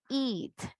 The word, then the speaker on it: eat: La única diferencia va a ser que tanto alargamos el sonido de la vocal I o la pronunciación, ese sonido, it, eat.